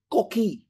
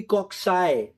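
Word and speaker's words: cocci: be as cxus cxus or coai don't say cocki no they are coai my teacher sir nanman he told us the name of this bacteria they are said to be coxy this this is a correct pronunciation and I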